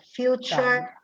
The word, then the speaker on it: future: Allora, innanzitutto future, la finale char si legge char, future, nature, literature, questo finale ture diventa char, future.